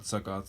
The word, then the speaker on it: Sukkot: up to celebrate the festival of there's not Sukkoth sorry saccade s ukk OT i mispronounced it earlier this is the punishment of